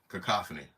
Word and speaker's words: cacophony: there man hey you're saying it right okay cacophony yeah CU I I just slowed it down